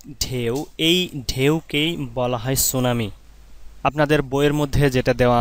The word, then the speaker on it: tsunami: সুনামি জাপানি ভাষার শব্দ। ইংরেজিতে সুনামি লিখতে হয় টি এস ইউ এন এ এম আই। এটা স্টুডেন্টরা ভুল করে টি থাকার কারণে। কারণ টি এই বর্ণটার উচ্চারণ হয় না।